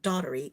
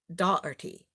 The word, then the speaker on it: Dougherty: I don't know what it's not it's not Daughtery it's doc Dougherty dirty dirty dirty I said